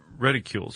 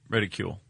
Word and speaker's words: reticle: Called reticules, right? Is that what how it's pronounced? A targeting reticule. Reticulation. Reticle. Okay. I didn't know how it was pronounced. I kept saying reticule.